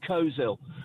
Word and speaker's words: Coleshill: Coleshill is pronounced Coleshill.